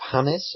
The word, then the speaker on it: James: happy birthday I think I think technically it's pronounced hamis or something like that calling James for the